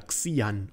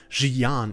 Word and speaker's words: Xi'an: Heute geht es um das Volk und die Rasse der Xian oder Xian. Ich weiß, eigentlich spricht man es auf Englisch so aus, aber ich dachte mir, auf Deutsch geht auch Xian.